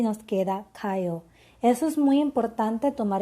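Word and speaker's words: 가요: Estas sílabas con estas desinencias se van a contraer y no vamos a tener ga, ayo, sino kayo, ¿ok?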